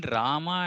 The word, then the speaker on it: Rama: Now between Rama and Ram, the whole point is about different states in India. Like as we go towards the north, they don't have this habit of pronouncing at the end of the word, right? Like especially for words like Ram, Bhagavan Ram. Bhagavan Ram in North India is same as Bhagavan Rama in South India.